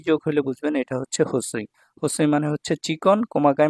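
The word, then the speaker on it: 細い: এই লেসনের দুই নাম্বার লেসনে দেখুন এটা হচ্ছে হোসই হোসই ঠিক আছে এই যে হোসই হোসই মানে চিকন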